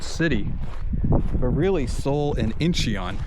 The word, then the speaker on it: Incheon: But really, Seoul and Incheon, it's the same city.